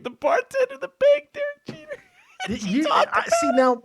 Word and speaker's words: Jeter: It's Jeter.